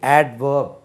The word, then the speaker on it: adverb: இது adverb, ADVERB, adverb. சார் இங்கே டி உச்சரிக்கக்கூடாதுன்னு சொன்னார், அதனால் இதுலேயும் உச்சரிக்கக்கூடாதுன்னு சொல்லி அவர்ப்னு சொல்லாதீங்க. இந்த இடத்துல டி உச்சரிக்க வேண்டும். adverb, இதை பிரதி பெயர் சொல்.